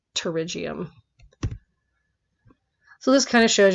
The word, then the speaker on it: pterygium: getting a pterygium and the P is silent so it sounds like pterygium so this kind of